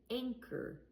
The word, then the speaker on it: anchor: I didn't say the H sound and I didn't use ch. If I use chug, say anchor. But we don't say that. We say anchor. And I only hear the c sound.